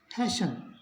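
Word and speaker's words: hasten: हो तो T silent रहेगा ई एन का उच्चारण होगा यानी एच एस टी एन इसको अपने पढ़ेंगे हैन यानी कि टी जो है वो इसमें नहीं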